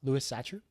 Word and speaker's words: Louis Sachar: who wrote holes huh Louis Sachar I think that's how it's pronounced but it's Louis the normal way and then si si har what are your uh